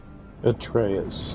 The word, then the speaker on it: Atreus: Atreus. Okay, so that's how you pronounce his What name.